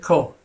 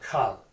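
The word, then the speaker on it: כל: Why is it kol instead of kal? Okay, so this right here is a comment. Okay. And sometimes it's a kametz chatuf, which is pronounced o. And the times that it is a kametz chatuf is when it's in a closed unaccented syllable.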